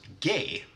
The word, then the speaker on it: G: And then we have G, which in Swedish is pronounced gay.